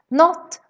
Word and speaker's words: något: Pronouncing words like något, någon, några as not, någon, några.